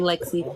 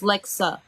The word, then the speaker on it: Lexa: Lexa is an A. You're saying Lexi. Everyone wants to pronounce it as Lexi, and I don't know why, but I understand it. It's like Yes, Lexa.